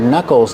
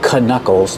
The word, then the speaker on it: knuckles: We see with the word knuckles, the K in the beginning is silent. We don't say knuckles. They're called knuckles.